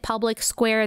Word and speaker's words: PublicSq.: day and that is Public Square it is spelled public SQ you pronounce it Public Square this is an amazing